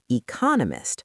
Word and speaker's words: economist: If you say your goal is to be an economist or a curator, you must hit the stress correctly. Economist, stress on the second, curator, stress on the first.